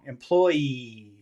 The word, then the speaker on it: employees: is that final but the final sound ease is that a snake or a bee is that a vibration or is that pushing out of your mouth employees no it's a vibration yeah so this is